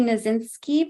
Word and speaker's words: Knasinski: and now I would like to introduce Andy nazinski please tell me if I mispronounced your name hopefully got it right and